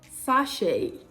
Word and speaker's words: sachet: t is pronounced incorrect although it is silent in the words ballet crochet sachet beret you see the